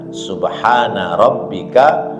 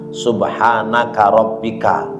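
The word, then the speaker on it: سبحان ربك: Nah, ini orang kadang-kadang ada yang membacanya subhanaka rabbika, ada yang subhanaka rabbika rabbil izzati amma yasifun, ya. Padahal subhana rabbika, ya, ka-nya satu, subhana rabbika, dan ini ayat Al-Quran.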